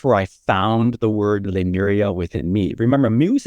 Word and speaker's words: Lemuria: Lemuria is 4 syllables. Lemuria. So there is a code of le, there's a code of mu, there's a code of re, and there's a code of ah.